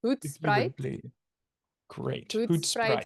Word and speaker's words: Hoedspruit: I've seen so many different versions. Hoot Sprite. Hood spritz. And I think it depends if it's more of the Africans or or the English pronunciation. So yes. So it's Hoot Sprite.